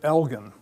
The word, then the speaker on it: Elgin: I used to always say Elgin, the Elgin marbles. I always mispronounced it. And about a year ago, I looked it up and it's Elgin. So anyway, the Elgin marbles